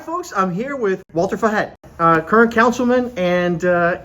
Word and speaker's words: Walter Fajet: I'm here with Walter Fet, uh, current councilman and, uh, candidate for mayor of Miami Springs. Walter, thank you for joining us. Thank you. How did you say my name there? Walter Fet.